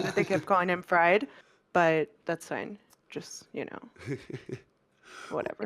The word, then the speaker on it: FRD: I guess he's supposed to pronounce his name Fried, but it looks more like Fred.